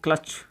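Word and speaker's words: clutch: Okay, यहाँ पर अपना टी साइलेंट है क्योंकि इसके बाद में तुरंत क्या आएगा CH। इसको जैसे कैच, इसको बोलेंगे क्लच।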